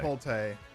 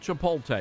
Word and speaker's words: Chipotle: I always I always mispronounce Chipotle. Chipotle, not Chipotle. It's Chipotle.